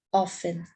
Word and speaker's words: often: seguida nós temos a palavra offen ela tem uma letra dele mas não pronunciam nós falamos apenas offen que quer dizer com